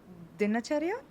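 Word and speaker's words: dinacharya: and so what I think Ayurveda calls it dinachara is am I right? Exactly. And pronounced exactly the way it you pronounced it.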